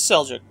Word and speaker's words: Seljuk: Yeah, this is Seljuk. This is Seluk, however you want to pronounce that. I' I've heard pronounced both ways, but I I usually pronounce it Seluk.